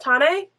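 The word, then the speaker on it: Tané: um and we're following I think it's pronounced tane and her journey working with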